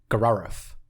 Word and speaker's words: Grrrauauff: god of Gararuf." Gruff. Garf? Gruff. Is that like Garfield's like? It is spelled. It is spelled GRRRAUAUFF. Gararuf. Gararuf. Exactly.